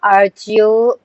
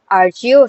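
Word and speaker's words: archaea: They said that archactia you know ario sometime they pronounce it like archio sometime they say ario bacteria.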